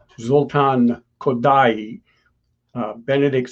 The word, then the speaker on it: Kodály: thing we should do is learn how to pronounce zoltan kodai uh benedict spelled it correctly it's k-o-d-a with